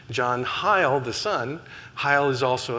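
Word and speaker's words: Heyl: And I asked them, "Is it pronounced hail or hy?" And they said, "We've always pronounced it hy. That's that's our family name. There are other people who want to pronounce it hail, but um but yes, that that is one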